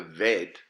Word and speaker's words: veit: The veit, which is the bait without the dot, sounds like the vav. It's got an equivalent V sound in the English language.